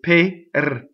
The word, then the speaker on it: per: Pear does not rhyme with the fruit pear. It's per.